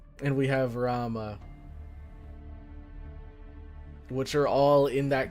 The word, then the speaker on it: Rama: So, like, Rama, Ravana, Vamana, I've heard their names pronounced as Ram, Vaman, or Vaman, Ravan. So I just assumed that a lot of the characters in, like, Indian mythology and gods and stuff, you normally don't pronounce the A at the end.